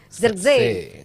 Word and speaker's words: Zirkzee: Makanya kita tanya, ini proses terjadinya gol Gimana bacanya? Zirkzee. Bukan kata Justin. Zirkzee. Zirkzee.